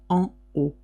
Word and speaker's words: en haut: You do not pronounce the H and you do not pronounce the T.